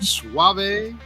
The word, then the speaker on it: Suave: He was nice enough to give us these, I'm going to pronounce it wrong, Suave Cigars.